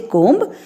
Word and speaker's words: comb: B is silent. So you will not say comb. It is comb.